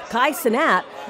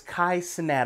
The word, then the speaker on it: Kai Cenat: there now I believe his name is Kai sanat I believe that's the way you pronounce his name now he's holding this